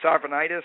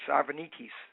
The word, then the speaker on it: Arvanitis: your last name sure if it's um anglicized it's arvanitis and if it's uh more in the Greek flare it's arvenis all right what well